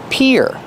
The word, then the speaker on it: pier: is up here and the pronunciation is like ear and hear peer this is the pier